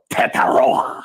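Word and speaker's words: Tetairoa: Tataroa. See how he has that pronunciation down?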